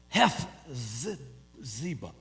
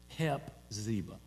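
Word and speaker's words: Hephzibah: you will be called Hes Ziba. Now, when I saw that yesterday, and I can't pronounce it real good, it's better for me just to say Hep Ziba.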